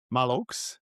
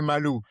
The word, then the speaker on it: Maloux: Malok. I never tried that be before. If you check if you check is the correct pronunc you would have say malu. No you don't pronounce the x.